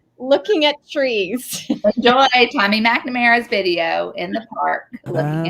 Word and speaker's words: McNamara: It's Tommy McNamara. Oh, I thought it was McNamara. McNamara. See, that's the thing, is I always stress it in the wrong syllables.